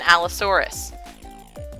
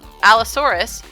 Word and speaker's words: Allosaurus: this this is an Allosaurus al Oh sorr s Allosaurus has four syllables in it or you can clap